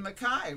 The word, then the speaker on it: MacKaye: It looks Percy like, Mackay was yeah, what his name right. was. It looks like McKay, but it's pronounced yes.